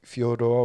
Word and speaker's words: Fedor: You can bring in Fedor if you want to say Fyodor, what the real pronunciation for his name.